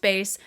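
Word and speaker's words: Béis: little like accent or dash above the is pronounced bass they served me up this base ad and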